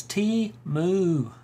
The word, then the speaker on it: Temu: Brands around the world how do you pronounce Teemu it is simple as T moo all right so let's